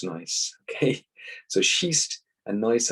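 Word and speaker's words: gneiss: mud over the time slate changes into nice pronounced nice okay so sheast and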